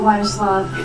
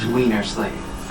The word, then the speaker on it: Weinerslav: Excuse me, Mr. Weinerslav. It's pronounced Wienerslave.